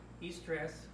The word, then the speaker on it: eustress: Eustress, pronounced Y-O-U, eustress, is good stress.